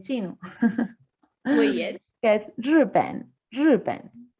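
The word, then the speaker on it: 日本: que es Ripen, Ripen.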